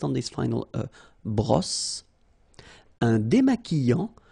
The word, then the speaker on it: démaquillant: So we've got this Q-U, but then U is not pronounced. So you get the sound qui. Okay, and then remember, double L after E will give you the sound y. Démaquillant. Final T not pronounced.